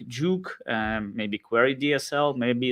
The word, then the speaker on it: jOOQ: to the stage hello i how do you pronounce it juke juke yes yeah so it's it's a database library